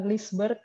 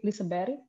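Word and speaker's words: Liseberg: seperti gold meja tebori ini bacanya bukan glisber atau lisabet tapi disebar ini adalah taman bermain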